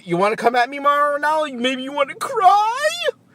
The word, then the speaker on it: Mauro Ranallo: You want to come at me, Mauro Ranallo?